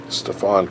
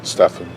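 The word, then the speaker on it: Stephen: chris paul ellie clips stefan curry stefan stefan i was pronouncing i think it's stefan steffen he's the consensus jimmer for debt and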